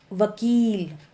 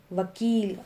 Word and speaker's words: वकील: जब हम छोटी ई की बात कर रहे हैं तो हल्का सा बोलेंगे किसान, किसान। लेकिन जब हम बड़ी ई की मात्रा की बात कर रहे हैं तो हम बोलेंगे वकील, वकील।